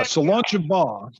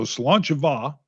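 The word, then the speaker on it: Slàinte mhath: So Solancha Va, and I may not be saying it right, but when we were in Scotland, we found out that folks in different regions even say it different.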